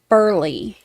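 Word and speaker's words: Baurle: and spell your record Deputy burle b a u r l e Burley I said it wrong I apologize okay and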